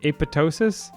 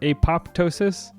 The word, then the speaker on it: apoptosis: And this one came up because people were arguing about whether you should say apoptosis or apoptosis. The PT sound in Greek, you're not supposed to pronounce the P.